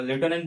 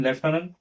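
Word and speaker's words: lieutenant: लेफनंट त्याची spelling पहा त्याला लेफ्टनंट पण म्हणतात पण लेफनंट छान वाटेल बोलायला लेफ्ट नंतर बघा विजय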